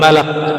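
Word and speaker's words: ملك: Alamul Malak. Jadi yang pas bacanya malak ya.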